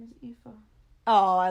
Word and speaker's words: Aoife: His daughter's name is Aoife. Oh, I like the name Aoife. That's cute. Of course, it's spelled with a Z, but How do you spell Aoife with a...